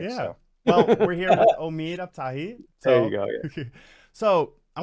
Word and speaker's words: Omid: on my uh pronunciation my name is that so just helps people out there it's Omid oh really yeah yeah yeah it's a long e yeah okay it's very